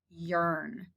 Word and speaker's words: yearn: this category sort is the word yearn i yearn for summer days e-a-r yearn now the rest of the